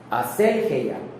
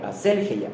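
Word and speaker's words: ἀσέλγεια: La palabra libertinaje, aquí la escribí igual, se traduce de la palabra griega aselgeia, acento en la primera E, aselgeia, que denota lujuria desenfrenada, denota exceso, disipación, sensualidad, insolencia y descaro.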